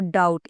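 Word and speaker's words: doubt: That यहां भी आपने बी को साइलेंट अह कर दिया और डाउट इसके अंदर भी तो टी से पहले और एम के बाद हमने अह बी को साइलेंट रखा।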